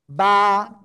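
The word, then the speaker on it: ب: বা। দুই ঠোঁটের ভিজা অংশ থেকে এ অক্ষরটা উচ্চারণ হবে। এক আলিফ টান হবে।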